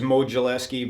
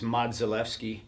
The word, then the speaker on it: Modzelewski: Well, everybody says Modzelewski, but in Polish it's Modzelewski.